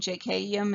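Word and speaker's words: jeikeium: JK is a serious one. JKium is pronounced.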